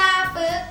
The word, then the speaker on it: ปึ๊ก: นี้ ขอ เสนอ คำ ว่า ปึ๊ก อ่าน ว่า ปึ๊ก หมาย ความ ว่า โง่ โจ ยาก ประโยค งู่